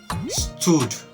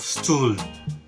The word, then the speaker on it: stool: that's crazy isn't it the fourth word is stood instead of stool you know the the